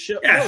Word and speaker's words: Shohei: Name wrong. Shohei. No. Shohei. It's Shohei.